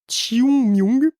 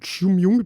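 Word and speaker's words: 清明: Ces services voient un pic de fréquentation autour de la période de, attention, Chiung-myung. Ça s'écrit King Ming, mais bon voilà, ça se prononce un truc comme Chiung-myung, parce que même avec la prononciation YouTube, j'ai quand même beaucoup de mal, désolé.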